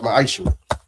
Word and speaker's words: ma'aser: Means tenth in Hebrew and it's pronounced ma'aser.